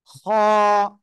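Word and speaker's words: خ: হয়েছে গলার শেষ ভাগ গলার শেষ ভাগ থেকে আমরা এই অক্ষরটা উচ্চারণ করব খ এক আলিফ টান হবে মোটা আওয়াজে উচ্চারণ হবে খ সবাই একসাথে জোরে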